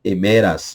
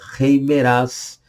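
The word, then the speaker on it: ἡμέρας: como emeras ou remeras, alguns pronunciam, há duas pronúncias para o grego, aqui pronuncia emeras, e aqui indica remeras tes sarcos, onde sarcos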